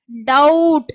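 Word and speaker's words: doubt: next show ஷவுட் ஓகேவா ஷவ இட் ஷவுட் ச பவ இட் ஸ்பவுட் டவுட் இங்க வந்து பாத்தீங்கன்னா பி வந்து சைலன்ட் ஓகேங்களா இப்ப போட்டு படிக்கக்கூடாது டவுட்ன்னு படிக்கக்கூடாது தப்பு பி வந்து சைலன்ட் சோ டவுட் அப்படின்னுதான் படிக்கணும் அதான் கரெக்டான உச்சரிப்பு அடுத்து பாருங்க ஹவ ஹவட்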